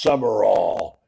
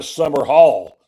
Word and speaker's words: Sumrall: The worst thing you can do is call your new coach Summerall like Pat. It's not spelled the same. Nowhere near Pat Summerall is not the same as John Summerall. It's just so you know, if you're writing it down, they call it now Summer Hall.